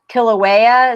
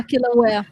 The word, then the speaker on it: Kilauea: Kilauea, is that it is? Get it? Kilauea volcano lava. Yeah, Kilauea.